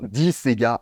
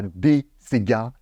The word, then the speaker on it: Golden Disa: en version abrégée et ça se prononce bien dis Sega et non pas des C gar arrêtez de proncer le D en français ça fait vraiment dégueulasse sérieux vous ne dites